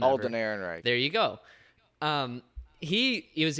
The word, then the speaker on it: Ehrenreich: the man who's playing Han Solo, I can't pronounce his last name. Alden Ehrenreich.